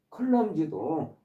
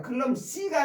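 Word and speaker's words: clumsy: 옥워드 어설픈 서투른 그다음 마지막 단어 클럼지도 원래 솜씨 없는 서투른 그 다음에 꼴사나운 그런 뜻. 이게 G로 발음 클럼C가 아니라 클럼지로 발음하셔요.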